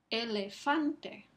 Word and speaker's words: elefante: Entonces, ¿cuál es la sílaba que tiene el énfasis en la palabra elefante? Elefante. Fan es la sílaba que recibe el énfasis aquí.